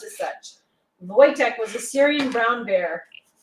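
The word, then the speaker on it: Wojtek: was christmas in english sometimes spelled voyage and pronounced as such voytek was a syrian brown bear bought as a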